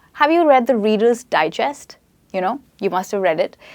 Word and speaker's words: digest: And that is a noun, okay, where we stress on die, right? And you say digest, okay? And there's another word, digest. So as you see, I stressed on the second syllable here, digest, and jest is the stressed part. Now this is a verb, as in you're digesting